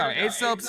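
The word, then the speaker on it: Aesop: These aren't I'm not going to read them how ASOP wrote them though because I want to be clear, he's trying to make this funny, right? So he purposely said his name wrong. It's technically Asop.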